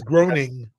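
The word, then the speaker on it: Groening: name correctly uh it's it's always it's a got a strange it's groaning groaning yeah from The Simpsons permission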